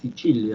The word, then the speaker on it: Sicilia: Esto que está acá, se pronuncia así, Sicilia, es un nombre italiano. La C en italiano siempre se pronuncia como che.